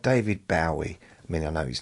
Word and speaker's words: Bowie: I was talking about the different pronunciations in America and England. So, there's like David Bowie.